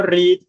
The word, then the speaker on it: read: El verbo read, que es leer, se escribe igual en pasado, pero se pronuncia diferente.